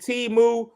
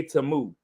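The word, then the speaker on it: Temu: Black people been calling it T-Moo forever. We've been T-Mooing forever. Now we finally know how to actually say Tamu.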